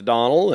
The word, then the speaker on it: Donnell: And the O or the, I just shortened it to Donnell, and that's the way it's pronounced.